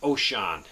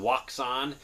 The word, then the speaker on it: Wouxun: help people program and and that's the uh ocean it looks like it's called waon but it's actually pronounced ocean and this is the kg uv2